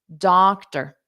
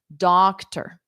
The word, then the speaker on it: doctor: because we need data, doctor, doctor. So that T-O-R is just pronounced T-R, ter, ter. And then the syllable stress is on the first sound, doctor, doctor, doctor.